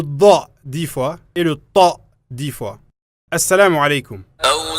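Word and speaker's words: ط: Et Ta, comme tu l'entends, est aussi un T emphatique. C'est pas comme la lettre T dans l'alphabet français. C'est un Ta. La même manière que l'on prononce le Da, le Ta, le son reste dans la bouche, avec la langue ayant un contact sur le palais.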